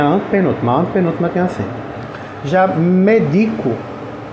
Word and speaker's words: medico: antepenúltima tem assim já medico medico tipo assim eu medico você eu lhe dou remédio a sílaba tônica é o d Então ela é uma paroxitona é a mesmo o